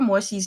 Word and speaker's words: Mo Xi: You can just say SH, she, if you want.